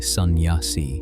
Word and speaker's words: sannyasi: A sannyasi, pronounced roughly sannyasi, which in the Hindu